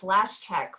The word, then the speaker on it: Lashchyk: Yes, it's Lashchyk. My ex-husband used to say, like the last check in your checkbook.